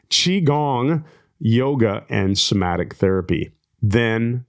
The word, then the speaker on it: Qigong: I started studying alternative techniques such as Qigong, yoga, and Qigong. Sorry, I'm saying it wrong. Qigong, yoga, and somatic therapy.